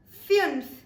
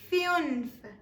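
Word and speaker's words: fünf: German is pronounced as fun fun paying stress upon the U with the umls or the two dots it's pronounced as fun fun all right with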